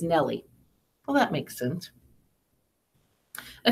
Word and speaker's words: Nell Lee: the name Harper Lee she didn't want her first and last names to run together sorry with Nell Lee pronounced as Nellie well that makes sense